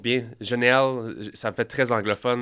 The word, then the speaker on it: Jheanelle: a c'est est-ce que je prononce bien Genel ça me fait très anglophone c'est parfait je commence ça directement ser jamais Janel Janel Janel mieux azilex c'est bien prononcé non azilex AZ on commence le podcast